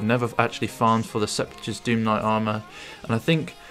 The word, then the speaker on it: Sepulchure: I know that I've been calling it Seppi's throughout the series, but I believe it's pronounced Sepulchure. I don't know though, that's just my take on it.